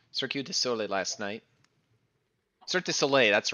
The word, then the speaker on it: Cirque du Soleil: Cirque du Soleil, that's right, that's how you say it.